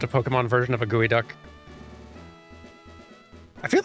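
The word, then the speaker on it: geoduck: it is it's pronounced gooey duck though it does the word does not look like what you would pronounce gooey duck but it's pronounced gooey duck or is it pronounced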